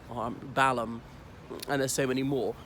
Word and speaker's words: Balham: The other thing is, usually these HAM endings in British place names, the H is silent, as in Birmingham, Fulham, Balham, and there's so many more.